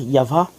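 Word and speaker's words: Yahweh: il faux ya is a man of War yava est un homme qui est un guerrier y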